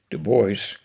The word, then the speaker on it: Du Bois: by one of america's great black intellectuals w.b du bois as he pronounced and w.e.b stands for william edward burkhardt